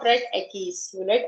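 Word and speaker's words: equis: X is pronounced as Ekis.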